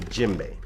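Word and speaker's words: djembe: a lot about is called the jimbe now the jimbe is spelled DJ e MB e this drum is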